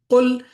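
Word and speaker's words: قل: For example, mispronouncing a letter can alter the meaning. Qul is say, and kul means eat.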